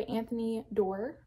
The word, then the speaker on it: Anthony Doerr: I finished All the Light We Cannot See by Anthony Doerr, is how you say his name.